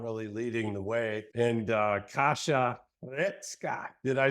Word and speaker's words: Kasia Hrecka: And Kasia Hrecka, did I say it right, Kasia?